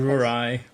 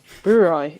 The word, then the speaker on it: Brouwerij: Brouwerij. Brouwerij, is that how you say it? IJ is I.